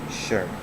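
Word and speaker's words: shí: last you know but 10 that is sure it's just uh like sure for the to be but it's another tone so it is s h i and the third term mark so it goes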